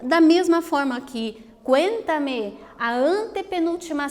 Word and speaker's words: cuéntame: Então, olha lá, cuéntame. Veja que a sílaba tônica, que é a mais forte, ela está posicionada na antepenúltima sílaba, né?